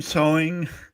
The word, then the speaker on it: Sohn: Sewing.